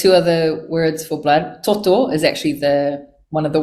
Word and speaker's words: koko: And when we talk with a more comfortable kind of slangy way, then we pronounce our T's with a K, so it becomes koko.